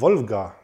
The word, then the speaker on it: Wolga: jetzt richtig orientiert habe in der aussprache ist dieses l mit dem strich durch ein und dann ist das war wohl wolga folgen wollen also ich